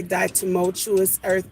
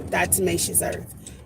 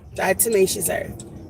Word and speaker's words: diatomaceous earth: never say it right I always want to say die tumultuous Earth but that's not diatomaceous earth diatomaceous earth I'm getting a really